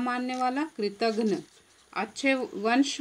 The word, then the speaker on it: कृतघ्न: उपकार को न मानने वाला कृतघ्न, ध्यान देना उच्चारण, उपकार को न मानने वाला कृतघ्न।